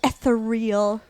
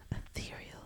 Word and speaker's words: ethereal: It looks so It looks so etheral. Ethereal. Ethereal. Ethereal. Is that how you say it?